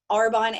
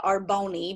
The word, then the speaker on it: Arbonne: arbonne business which y'all i used to say arbone because i didn't even know what it was i didn't even pronounce it the right way um i watched her build her arbonne business alongside her full-time